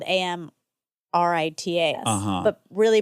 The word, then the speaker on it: Amrita: So, sometimes when there's just a t, it's pronounced th.